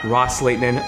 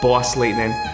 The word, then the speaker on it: Ros-Lehtinen: plenty of times tonight I know it's not Raza laitanan but boss laitanan I have my cafecito